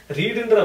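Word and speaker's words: read: Verb இந்த ரீடுன்ற வெர்புக்கு என்னென்ன ஃபார்ம்ஸ்னா present tense, past participle என்னன்னா ரீட், ரெட் அப்படின்னு சொல்லுவாங்க.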